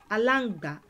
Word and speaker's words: alangba: And one of my examples was alangba, which is lizard. Ala-ng-ba. There are four syllables in that word.